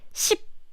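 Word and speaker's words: 십: This too, some people say it's like sip, sip, sip. But we don't have the p sound at the end. It's just sip. There's no sip.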